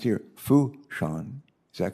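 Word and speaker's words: Fourchon: the port director of uh port and it's pronounced here fou sean is that correct uh good and which is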